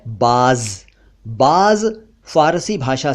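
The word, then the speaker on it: بعض: तो बाज, उसका उच्चारण थोड़ा सा डिफरेंट होता है। अरबी स्टाइल में बाज कहते हैं, लेकिन जनरली उसे भी बाज कहते हैं।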